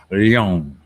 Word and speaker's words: Leong: It's almost just pronounced long, isn't it? But you've got to do a little bit of an E in there. Leong.